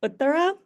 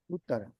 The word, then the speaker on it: Uttara: it's pronounced Uttara. Uttara. Yes, Uttara. you got it.